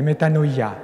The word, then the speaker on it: metanoia: la méta ni les metanoia vous le dites avec la prononciation erasme viennent là metanoia la conversion c'est le